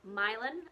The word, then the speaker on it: Milan: inexplicable ones though um two of my favorites are milon ohio named after the italian city of milan and perhaps the best